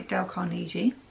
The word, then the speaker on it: Carnegie: stuff is how to win friends people by Del Carnegie and that's how to say the name yeah